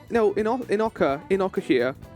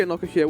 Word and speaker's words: Inokashira: No, would it be in Inokashira? I think it would be Inokashira, wouldn't it? Because they don't pronounce the O that way, I think.